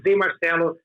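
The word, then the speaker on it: Zé Marcelo: is much more Spanish, like a in Portuguese. Marcelo is like a composed surname, Rodriguez. But no, I just use like zemarcello.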